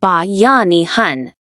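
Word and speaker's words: Bayanihan: The first most essential force is Bayanahan pronounced ba yanihan.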